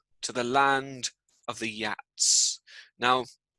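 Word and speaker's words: Geat: the land of the yats now you spell the at like this but i'm i'm told that yat is how you pronounce it oh hang on let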